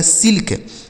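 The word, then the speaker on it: silk: आगे आगे लिखा गया एस आई एल के एस से हो जाता है दोस्तों स इस आई से हमें छोटी इ की मात्रा को पढ़ लेना है। एल से आधा ल और के से क इसे पढ़ा जाएगा सिल्क।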